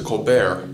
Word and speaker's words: Colbert: to Northwestern University theater program and changed the pronunciation of his last name from Colbert to colar initially focused on dramatic acting colar became interested